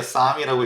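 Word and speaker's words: Sahm: 클라우디아네 이름이 성이에요 그래서 아국 말로 싸이라고 하면은 성할 때 삼 뭐 이런 거기 때문에 구분이 어려우니까 샤이라고도 읽는데요 아 그렇지만 정확히 보면 싸 좀 길게 읽어야 됩니다 그래서 클라우디아 사이라고 읽어야 되는데 우리는 장음이 없죠 예 그렇기 때문에라고도 합니다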